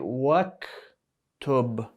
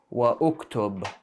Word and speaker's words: واكتب: You skip this alif, you don't say uktub, you skip it because there is waw there. This is harfu atfin. This is how you say and, so you go straight waktub, and write. So you shouldn't be saying wa uktub.